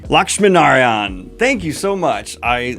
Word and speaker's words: Lakshminarayan: cover revealed for Interstellar Megachef by Lavanya, dyslexia, Lakshminarayan. Kayla, can you help me? You're bilingual. I need you. How do you say this last name? Lakshminarayan.